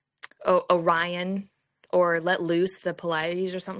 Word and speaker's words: Pleiades: Can you bind the sweet influences of the Pleiades? How do you say it now? But it's the seven sisters, those stars. Pleiades. That's it. Pleiades.